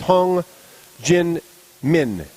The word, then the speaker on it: Hong Jin-min: Proper pronunciation for the Korean in the first pairing is Hong Jin-min.